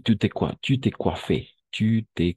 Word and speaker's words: coiffé: Tu t'es coiffé. Tu t'es coiffé. N'est-ce pas? Tu t'es coiffé. N'oublie pas O-I, toujours wa.